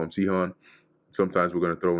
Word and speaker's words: Sihon: Cone or Sihon. Oh, interesting. It says here, let me see if they have another one here. With a long OS s this with the stress on the first syllable. Sohon is is all right.